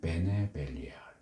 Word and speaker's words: 베네 벨리알: 근데이 배 밑에 붙은 모음이 반모음 쉐바가 붙어서 이거를 발음을 해서 읽으면 베네가 되는 거고 발업을 안 하고 읽으면